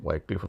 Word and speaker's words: Wycliffe: Ada Vulgate, ya, ada Masoretic Text, ada Wycliffe, ya, Wycliffe atau Wycliffe bacanya.